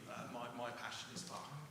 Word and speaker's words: Bach: Yeah, Bach. So with the CH as in the Scottish loch, so Bach.